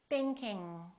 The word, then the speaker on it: thinking: Thinking, thinking, thinking. So, when I pronounce the NG sound, the G is in the back.